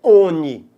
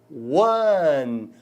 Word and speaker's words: one: A junção do O com o N, pessoal, dá ao O o som do W, certo? Não é ONI. ONI boy. ONI boy. ONI boy. É ONI? A pronúncia é ONI, gente? Hein? ONI? Hein? É ONI? Não, pessoal, a pronúncia é one.